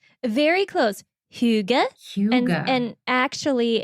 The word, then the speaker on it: hygge: Is it pronounced hygge? Very close. Hygge. Hygge. And actually, if you ask the average American, they put a y into it.